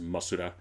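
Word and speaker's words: モスラ: Like in Japan, Japanese sheep Mothra would be pronounced Masura.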